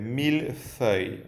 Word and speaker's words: millefeuille: Quiero volver a la pronunciación de millefeuille, ¿vale? Millefeuille, no millefeuille, ¿vale? No se pronuncia millefeuille, sino millefeuille.